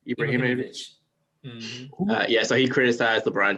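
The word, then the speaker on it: Ibrahimović: How do you pronounce his last name? Ibrahimovic.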